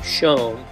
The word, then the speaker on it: Schoen: And in something of an upset, I pronounced Dalton's name correctly, Schoen, after botching it previously.